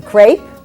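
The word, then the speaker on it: crêpe: and over and there you have another lovely crepe or as they would say in France crep that is the proper pronunciation and sometimes they do fold it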